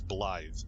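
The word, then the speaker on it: Blaidd: three they are Egypt blide I pronounce it like it's spelled everybody else says Blythe all of the other characters it sure sounds like it's a th instead of a d but um Egypt lied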